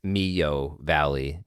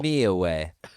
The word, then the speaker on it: Millahue: Oh, you were way off. You weren't even close. I was trying to be real cool with my pronunciation. You missed the whole syllable. Millahue.